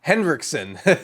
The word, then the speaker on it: Henriksen: Henriksen.